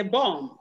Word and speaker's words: bomb: hear them pronounce bottle as bottle bomb as bombo thighs are sizing your own pronunciation and their book instead of saying book